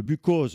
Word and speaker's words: Buchose: Alors que lui ajoute un petit apostrophe pour bien marquer qu'il tient à la prononciation de Bucose.